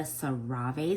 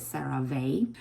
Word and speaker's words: CeraVe: Today's review is all about the CeraVE. Some people pronounce it CeraVE. Either pronunciation is fine.